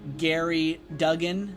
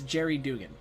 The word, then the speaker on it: Jerry Duggan: name, because before this I was pronouncing his name as like Gary Duggan or Dugan. I think that's what I was saying, but it's Jerry Dugan or Duggan.